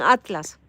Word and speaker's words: ATLAS: Pues en ese platillo volador, en el 3i Atilas, porque lo escriben Atilas, pero lo pronuncian Atlas.